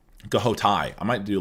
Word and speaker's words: Ghoti: It's not pronounced fush. Goai.